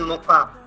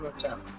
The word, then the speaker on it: Mocha: It's pronounced as Mocha, not Mocha.